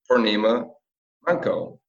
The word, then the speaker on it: Poornima Manco: Please welcome Poornima Manco. Thank you for having me on, Andre. I feel like I butchered your name. Did I say that right? No, you said it really well, actually.